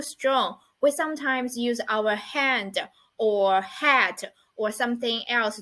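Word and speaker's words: 旱: And the pronunciation of it is han.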